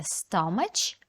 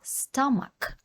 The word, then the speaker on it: stomach: слово наступне stomach ache знову бачимо CH у слові stomak але читаємо не stomach а stomak stomac a пишемо як